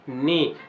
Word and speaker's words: knee: Letter silent होते हैं, जैसे हम बोलते हैं नी, लेकिन नी की स्पेलिंग क्या है दोस्तों? KNEE, लेकिन अब इसमें के क्या हो गया? साइलेंट।